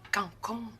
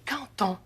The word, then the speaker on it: canton: On dit pas cancon, on dit canton. Le D en fin de mot se prononce comme un T devant un mot qui commence par une voyelle.